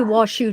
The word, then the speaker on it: Washoe: But Teresa, I would say Washoe too, because look how it's spelled. It's spelled like shoe.